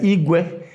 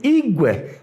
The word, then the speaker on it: igwe: you use another word, that Igwe is heaven, sky, the cloud, anything. Igwe, high, low, is now iron, metal, a bicycle. Now, Igwe is a crowd, low, Igwe. That's a multitude.